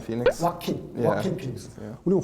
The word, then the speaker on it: Joaquin: 제가 보기에는 조커 호야킨을 발음을 어떻게 해야 돼요? Joaquin Phoenix. 와킨 피닉스. 우리는 호야킨, 그렇게 호야킨.